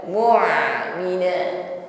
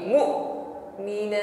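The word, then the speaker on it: مؤمنات: Bukan mu'mina ya, tetapi mu'mina tertahan aliran suaranya.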